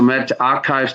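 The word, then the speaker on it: medRxiv: this a couple of years ago uh so met archives that's how it's pronounced especially a free online archive and distribution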